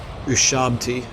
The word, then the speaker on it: Ushabti: Wow, they summoned Ushabi. How do you say that? Ushabti.